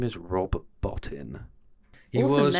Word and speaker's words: Rob Bottin: I got his name wrong. His name is Rob Bottin.